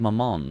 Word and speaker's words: Mammon: Pronouncing mammon like the French word for mom is certainly a choice.